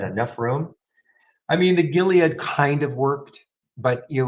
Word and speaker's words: Gilead: here and then the jilad Gilead that's right hard G Gilead 3189 and and it